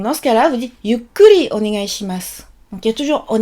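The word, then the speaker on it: ゆっくり: Donc dans ce cas-là, vous dites yukkuri onegai shimasu. Donc il y a toujours onegai shimasu pour dire s'il vous plaît, et il y a yukkuri. Attention, on retient la syllabe kuri, yukkuri.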